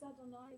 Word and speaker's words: Adonai: We pronounce it as We don't Adonai. pronounce the Yeah.